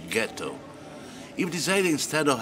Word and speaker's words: ghetto: When the Jews arrived here, they were German-speaking Jews, so they transformed ghetto into hard G ghetto.